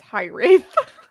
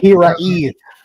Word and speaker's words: Hiraeth: I think every time I say it, it's High Wraith, but I don't think that's right. Hiraeth.